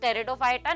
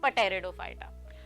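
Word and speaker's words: Pteridophyta: मैंने आपको बताया था कि टेरिडोफाइटा इसमें पीस साइलेंट होता है। It's pronounce as टेरिडोफाइटा नॉट पटेरडोफाइटा। So they have well developed root, stem and leaves.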